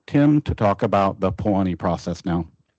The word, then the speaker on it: POHANI: Uh, as far as I know, it's not Hawaiian thing, but it's it's pronounced Pani.